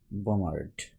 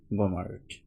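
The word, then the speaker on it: bombard: বমশেল বমশেল হচ্ছে বমশেল বমারড বমারড বি উচ্চারণ হচ্ছে না কিন্তু বমারড এটা হচ্ছে বমিং বমিং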